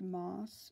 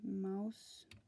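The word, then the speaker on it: Maus: how you spell it it looks like it's pronounced moss but it's actually Mouse yeah so the only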